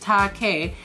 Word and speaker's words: Take: Take, pronounced Take, is a crazy young pup that dreams of becoming the next Decora fashion icon of Harajuku.